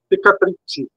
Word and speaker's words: Pecatricce: né, eh, pecatrript, né, como é o a pronúncia correta. Pecatrite. Pecatrite. Eh, latim.